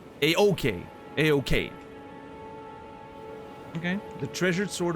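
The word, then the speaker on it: Eochaid: It's an Irish Gaelic word. It's pronounced... Oh, it's actually pronounced A-OK. Oh, okay. Well, there we go. I thought Bullvine was making a joke. It, you know. Make sure you stress the second syllable, not the first.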